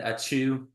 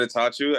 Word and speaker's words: Attaochu: the Keaton Taylor show today we got auu today from Barry University introduce yourself a little bit it's atatu I think you just butcher the last name